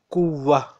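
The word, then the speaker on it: قوة: Okay, so We write it like kuwatan, but we pronounce it like kuwa. Okay? So remember, when this round ta is at the end, we pronounce it like ha. So kuwatan is written but pronounced kuwa.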